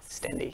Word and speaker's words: Stende: Stende, yeah.